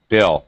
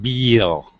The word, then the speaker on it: bill: with bill all right bill not beale right it's it's a short i sound bill very short okay don't stretch it i have a mini